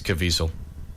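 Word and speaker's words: Caviezel: I always screw it up too yeah it's cavel is it really mhm I never would have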